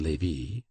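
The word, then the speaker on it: Lévis: named metha no Lei l v i s which was pronounced Lei KES c a m b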